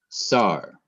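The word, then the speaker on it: שר: still has the accent the next word is is um the letters sin paak and re SAR and in English translation that is official or leader notice again there is no accent mark because this is the only syllable and it is counted as the last syllable and there is no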